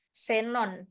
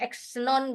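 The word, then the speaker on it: xenon: keperluan bidang tertentu nah huruf x pada posisi awal kata diucapkan dengan S misalnya ini senon bacanya Zon gitu Ya bukan xon gitu Tapi bacanya senon kalau dia di posisi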